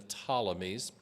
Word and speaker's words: Ptolemies: Egypt belonged to the ptolemies there's a silent P like pneumonia a p-t-o-l-e-m-y the ptolemies have Egypt